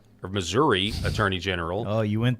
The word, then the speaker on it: Missouri: My sweet little grandmother can say Missouri if she wants, but for those of us up there, it's Missouri. Okay.